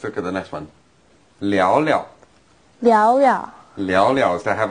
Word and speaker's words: 聊聊: Now like often when we have the verb repeated like that, the second verb...is pronounced in the light tone, the neutral tone, 聊聊。